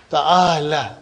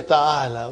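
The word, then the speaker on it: تعال: Ta'ala. But you will never say ta'ala. You will always say ta'al. What will you say? You know, when you are pronouncing, you will give a sukoon. Ta'al.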